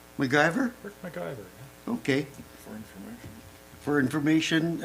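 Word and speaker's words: McIver: uh Municipal Affairs uh Minister how do you pronounce his name mver mcgyver mcgyver okay for information for information uh Larry all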